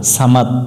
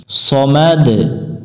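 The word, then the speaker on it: صمد: আমরা এখানে সাকিন ধরবো সমাদ আল্লাহুস সামাদ আল্লাহুস সামাদ এখানে আমরা দুইটা ভুল করি আল্লাহ এবং এখানে ভুল করি সামাদ শেষে দ উচ্চারণ না করে এখানে ত উচ্চারণ করি সামাদ সামাদ না সমাদ লাম মিম জবর লাম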